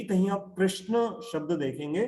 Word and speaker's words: कृष्ण: अब जैसे कृष्ण, फॉरेन के लोग कृष्णा बोलते हैं, रामा बोलते हैं, तो असल में तो शब्द क्या है, राम है, रामा नहीं है, कृष्ण है, कृष्णा नहीं है।